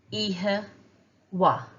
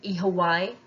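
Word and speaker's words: oíche mhaith: Repeat after me, iha ihe, ihe, wa, wa, ihe wa. Now you may hear ihe wai. That would be a dialectical difference. Some people pronounce it that way.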